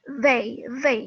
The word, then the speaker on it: they: They, jadi ujung lidah itu sedikit digigit. They, tidak they, tidak begitu. Itu mah day sama hari ya. Ini they. Yang selanjutnya adalah them.